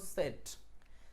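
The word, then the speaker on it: said: এটার উচ্চারণ হলো সেইড অনেকে এটাকে আমরা সেইড বলি কিন্তু আসলে এটার আসল উচ্চারণ হলো সেট যাদের কাছে ডিকশনারি আছে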